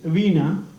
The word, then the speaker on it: veena: my instrument the name of the instrument is veena v e e n a that's how it is pronounced it is one of the oldest instruments